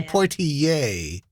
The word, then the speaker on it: Poitier: for you poi i'd actually say pointy yay not eh like the first black